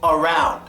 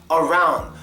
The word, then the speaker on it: around: you to understand is when you say the word around at the beginning of a sentence or when it's by itself there's no schah it's around around but when you're saying around after another word when it's used in